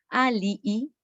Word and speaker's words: alii: ejemplo, aquí tendríamos en estos finales digüitias, alii, alii.